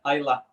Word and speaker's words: Islay: I don't know why I said Islay, but yeah, Isla, yeah. imagine the Y is not there. Yeah. And then pronounce it like Isle.